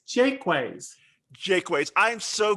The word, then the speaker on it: Jaquays: i found out that you're supposed to pronounce the phrase the word quay as i call it quay as key yeah so the florida